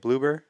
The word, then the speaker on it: Bloober: Bloober?